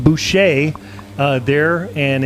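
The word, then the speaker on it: Busha: out of john it's it's b-u-s-h-a but they pronounce it boucher uh there and it's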